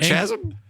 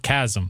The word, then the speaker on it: chasm: I would have known chasm it's not chm English language gets Brando uh part five it's spelled Chasm but it's called Chasm oh my who does